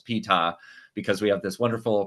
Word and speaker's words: Ptah: And by the way, I know how to pronounce Ptah because we have this wonderful pronunciation guide at the start, and we know that the P is actually pronounced at the beginning.